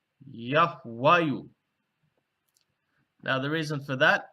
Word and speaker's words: Yahwayu: that which was before it, would have been pronounced Yahwayu.